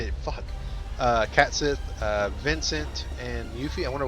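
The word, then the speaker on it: Cait Sith: I called him Cat Sith all my life up until I found out originally when I found out his real pronunciation is Kashyyyk, I think, and it just sounds weird.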